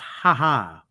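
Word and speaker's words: Jaja: you translate for me it's pronounced ha ha like you're laughing yeah and i just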